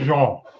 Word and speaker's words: Jean: Wyclef's last name is pronounced the French way. Sounds more like Jean, or even closer, like the end of Parmesan. Wyclef Parmesan. I'm sorry. Wyclef Jean.